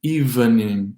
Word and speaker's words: evening: Evening, without the second E. Evening, evening.